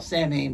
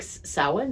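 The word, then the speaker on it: Samhain: Pagan friends they're celebrating what I used to call sanding but I guess it's pronounced something like salad or something yeah and of course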